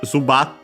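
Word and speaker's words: ズバット: And yeah, there it there's the term zubat in uh Japanese. Uh the accent should be on the bar.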